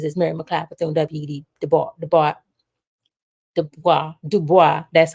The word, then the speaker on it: Du Bois: Du Bois, that's how you pronounce it, and Reverend Adam Clayton Powell Jr.,